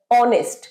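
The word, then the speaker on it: honest: কিন্তু এইচ টা এখানে সাইলেন্ট আমরা এটা জানি উচ্চারণটা কি হচ্ছে অনেস্ট অট একটা স্বরবর্ণ একটা ভাওয়েল সাউন্ড তাহলে এর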